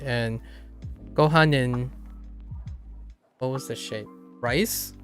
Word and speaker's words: ご飯: Gohanin? Yeah. Gotta maximize. And then sushi. Which one is rice? Gohanin? ご飯 Oh, gohan. Oh, it's really light. Gohan. ご飯 Gohan. Okay. So, not necessarily a separate syllable.